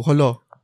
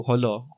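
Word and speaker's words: Jolo: Sulu, Holo. What's it called? It's not pronounced Sulu, it's... I don't know, Holo is Holo?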